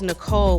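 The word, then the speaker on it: Nichole: Who spells Nicole with an H? I do. The H is silent, she said, spinning back around and trying to glare and smile at the same time.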